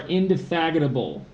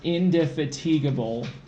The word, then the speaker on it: indefatigable: You are indefatigable, which should be pronounced indefatigable, but we just say indefatigable. I think I might have said it. Indefatigable. You said it wrong the first time.